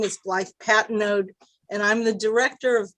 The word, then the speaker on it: Patnode: apologies sure council member it's um pat node it's pronounced like p-a-t-n-o-d-e thank you uh miss